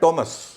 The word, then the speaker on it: Thomas: सब जानते हैं लेकिन टी एच ओ एम ए एस थॉमस कहते हैं लोग हा उसका उच्चारण टॉमस अच्छा एच यहां साइलेंट साइलेंट है तो जैसे जी के बाद एच साइलेंट था आर के बाद एच साइलेंट है वैसे टी के बाद भी एच इस मामले में साइलेंट है बाकी मामले में क्या